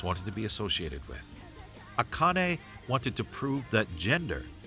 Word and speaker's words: Akane: right from now on I have been saying akan for so long it is aane wow she is so